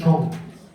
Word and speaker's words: Chionh: My surname is Chong. You can see my Chong is pretty unique. I think many people never seen this Chong before. It's spelled Chionh.